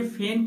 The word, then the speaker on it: feign: आइए सबसे पहले फैन का एग्जाम्पल देखें जिसका स्पेलिंग होता है FEIGN।